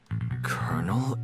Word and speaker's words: colonel: I'm so pissed off of how Colonel is spelled. There's no R in there. There is zero R in that word. Why is it spel Why is it said with an R?